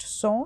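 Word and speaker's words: sans: that is known as a saw serif S A ANS pronounced so so serif or without serif we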